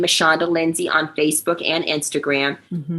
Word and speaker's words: Michanda: So it's Michanda, my first name, Michanda. So I say Michanda spelled like Michelle and Shonda all squished together, but with the A for the Shonda Anda part.